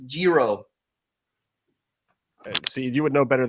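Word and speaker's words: hijo: hey you know what I didn't say Hilo though my pronunciation might suck but I don't say Hilo because it's Jiro see you would know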